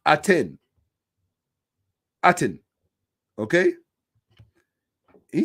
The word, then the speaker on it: Aten: what they didn't do he's an expert can't pronounce the deity's name it's aten aten okay he said some i can't i